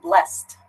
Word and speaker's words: blessed: Facebook asks how about blessed blessed it sounds when I say it blessed it sounds like a little bit of a T sound nah bless it